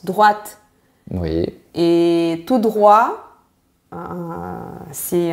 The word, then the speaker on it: droite: On a un T-E à la fin et le E provoque le T. Donc on le prononce droite.